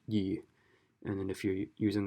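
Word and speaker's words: 易: on its meaning so if you're using it to describe easy then it's pronounced yi and then if you're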